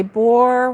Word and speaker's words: Boer: We say Boer War in Oz. Okay. Say shoe. And okay, Trudy says say shoe, and Gloria says sounds like bore.